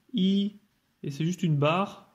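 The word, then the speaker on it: 一: Donc le 1 se prononce I, et c'est juste une barre, un trait tout droit, donc facile à faire.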